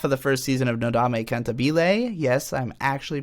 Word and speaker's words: Nodame Cantabile: the first half of the first season of Nodame cantabile yes I'm actually pronouncing it correctly for the first time in